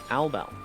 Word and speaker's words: Albel: Albel.